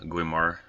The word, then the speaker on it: Guimard: is called again the game are variation I sounds like a French name gwaymar is a better way to pronounce it um but it's nice